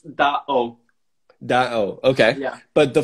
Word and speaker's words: DAO: So basically it's DAO. DAO, okay. Yeah. But the full name would be Da Origins, right? Yeah, DAO is like a short term for Da Origins.